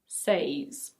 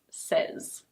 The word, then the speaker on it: says: for example, there are some regions in the UK where there are people who say "seiz", but most native speakers say "sez".